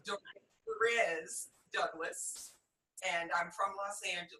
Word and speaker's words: Dorez Douglas: Okay, a lot of people do butcher the name, so don't worry. It's Dorez Douglas, and I'm from Los Angeles.